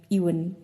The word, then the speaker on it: Eoin: Did you know that you pronounce his name Eoin? E O I N. And it's an Irish name.